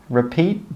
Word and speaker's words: repeat: And we don't say 'repeaT, T'. No. We stop the air with that final T sound. We say 'repeat, repeat.'